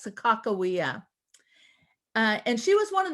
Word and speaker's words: Sakakawea: Now, many people usually think of, you hear the word Sacagawea, but the tribe themselves say her name is properly pronounced as Sakakawea.